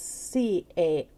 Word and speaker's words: Cara: It looks like I can show you people, but it's C-A-R-A, and it's pronounced Cara.